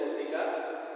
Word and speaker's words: ootheca: The sperms are transferred through a spermatospore, and their fertilized eggs are insects that is ootheca. That is O is silent, ootheca.